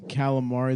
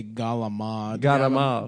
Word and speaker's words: calamari: That's My favorite is calamari. They say galamad.